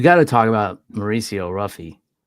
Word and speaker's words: Ruffy: to talk about Mauricio ruffy I was saying Huffy last week because I just assumed you know Brazilian and you don't pronounce the r but I guess it's ruffy um it was a